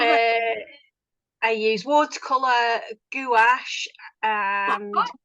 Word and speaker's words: gouache: Uh, I use watercolor, gouache, and Gouache, is that how you pronounce it?